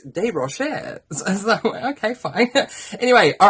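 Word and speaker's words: Desrochers: okay wow I used to call her Lisa Des rochers because her surname is d-e-s-r-o-c-h-e-r-s c-h-e-r-s um so I would literally pronounce the word her surname phonetically and say des rochez and then I was corrected and pulled out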